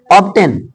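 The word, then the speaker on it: obtain: भी साइलेंट रहेगा यस ऑब्टेन यहां पर एक्सेप्शन में है ना यहां टी को बोला जाएगा ऑब्टेन बस हां टी को खींचना भी नहीं ऑब्टेन नहीं बोलना है ऑब्टेन क्लियर है ऑब्टेन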